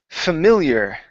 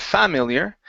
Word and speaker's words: familiar: go to the word familiar okay stress right here on Mill instead of familiar it's familiar familiar okay very good next